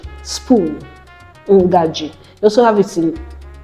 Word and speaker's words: ngaji: All right, then you have letter N as a syllabic nasal. It's pronounced as sound, as in the English word turn around. The N as turn. So we have it in Igbo words like ngaji, spoon, ngaji.